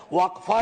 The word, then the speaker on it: वक्फ: और अलग अलग लोग इसका प्रोनाउंसिएशन अलग करते हैं, कोई वक्फ बोलता है, कोई वकफ बोलता है।